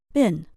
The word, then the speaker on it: been: to answer this question try using the American English pronunciation bin have you ever been